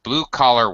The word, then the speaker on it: blue-collar: And here's another case where, okay, all right, blue collar workers. All right, the normally high blue collar. The normally high first syllable becomes low, and when it's used as a set phrase.